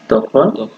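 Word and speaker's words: ت: দেখায় দিচ্ছি যদি এই নিচে একটা ফোটা থাকে তখন এটা হয় হলো পা আর যখন উপরে দুইটা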